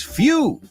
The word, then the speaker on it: phew: He says, few. That's right. Nice, German. Few. No few como pocos, pero suena igual. Pero se escribe P-H-E-W. Few.